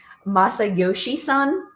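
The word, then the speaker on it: Masayoshi Son: So, SoftBank CEO, his name is uh Masa Yoshi Son.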